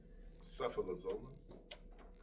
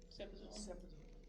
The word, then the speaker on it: cefazolin: Don't know how to pronounce that one. Cephalosporin. Cefalozolin? Yes. Cefazolin.